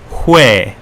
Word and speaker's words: 회: So ho is pronounced in Korean hue. Hue. Hue. It's more like H-W-E, but I don't know why the government's made the official spelling H-O-E.